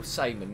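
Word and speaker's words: Szymon: How to spell it? I didn't see. S-Z-Y-M-O-N. Really? Yeah. Damn. No, Simon, not Dam.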